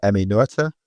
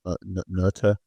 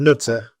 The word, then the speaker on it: Noether: mathematician and physicist called Noether, or Noether. I'm not too sure how to pronounce it. Not Nutter. Sounds like Nutter to me. No, it's got one of those E's with the dots on it.